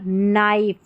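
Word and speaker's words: knife: KN, इसको न पढ़ेंगे क्योंकि के साइलेंट है, इसलिए के का उच्चारण नहीं होगा। देखिए ये नो हो गया, क्या है नो। यहाँ पर नाइफ और ये है नी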